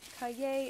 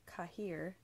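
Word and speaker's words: cahier: notebook noobs like myself hi gay is that word that looks like cashier but without the S and so I thought it was pronounced cut here but it turns out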